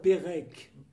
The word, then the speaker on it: Perec: Parce que oui, ça, c'est Pérec, c'est le C polonais avec un accent sur le C, donc il se prononce ce. Mais transcrit en français, ça donne Pérec, et il y a en Bretagne des Saint-Pérec.